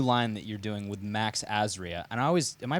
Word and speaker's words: Max Azria: Now, you have a new line that you're doing with Max Azria. And am I pronouncing his name right? Yes, Max Azria.